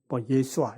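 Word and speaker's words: ישוע: 그러니까 히브리어로 이제 여호수아, 예수아 이렇게 발음이 됩니다.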